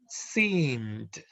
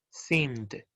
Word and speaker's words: seemed: And then we have the verb seemed. Okay. Verbo seem finaliza con sonido M. Seem. Vibrates or no? Sí. Yeah. Vibra. Entonces, ese sonido ED va a ser pronunciado como una D. Seemed.